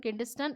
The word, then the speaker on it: Kidston: नाम बिल्कुल गलत नहीं करेंगे, स्पेलिंग बिल्कुल गलत नहीं करेंगे। KIDSTON, किंडस्टन, एंड LANG Lang.